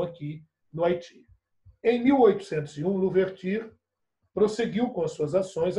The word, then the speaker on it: Louverture: Está aqui a figura do Toussaint Louverture, escreve-se Louverture, mas pronuncia-se Louverture.